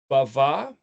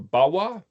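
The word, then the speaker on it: בו: That's the word, pronounced bava, or bawa, or bo.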